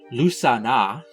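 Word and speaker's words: Lughnasadh: Bridget's Day, to bring in spring, Beltane to bring in summer, and something really complicated looking that is apparently pronounced Lusana to bring in autumn.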